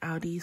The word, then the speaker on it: Aldi: Yeah, I'm pronouncing it right, Aldi.